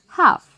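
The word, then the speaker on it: half: Then H ए एल, एक ही blank है, सो we will write हाफ. हाफ. एच ए एल एफ. फ again फ. Now this is एस सी आर you, double F आएगा.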